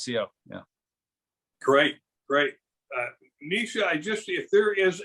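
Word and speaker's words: Naoise: yeah sure so uh my name is nisha n-a-o-i-s-e uh it's one of those irish gaelic names um pronounce nisha um and then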